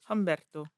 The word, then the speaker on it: Humberto: on the night of is it Alberto or Alberto Umberto but you've been saying Alberto maybe because like how I pronounce words but it's hum and Berto Humberto Alberto was arrested on